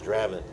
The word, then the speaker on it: Draven: It's he flip it from Spanish to English pronunciation. Draven. Draven. Draven. It's Draven.